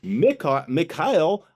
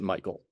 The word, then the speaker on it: Michael: If you come out here and you call me Mikael, I'm going to say I understand how you got there, but I pronounce it Michael.